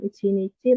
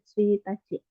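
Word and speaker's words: 一日: Jadi bukan Ichinichi, tapi Tsuitachi.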